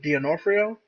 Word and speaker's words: D'Onofrio: What do you pronounce that? The guy who played Kingpin, Vincent D'Onofrio.